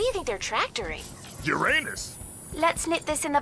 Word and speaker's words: Uranus: jokes about Uranus besides the proper pronunciation is Uranus it's a dactyl sorry Friday hey and